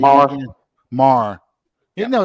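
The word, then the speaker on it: Maher: You said Meyer, I said Mayer, and I think Sean's pronunciation of Mar has been right the whole time.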